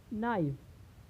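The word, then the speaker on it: knife: के पहले के हो, यानी जब के या जी एन के पहले आए तो वहाँ पर के का उच्चारण नहीं होता है। जैसे नी में क्या होता है? घुटना। नाइफ, नॉक, यानी लोग बोलते हैं ना, नॉक दी डोर, यानी दरवाज़ा खटखटाओ। तो यहाँ पे क्या है, हम देख रहे हैं कि जो के है वह एन के पहले आया है, तो यहाँ पर क्या है? साइलेंट है।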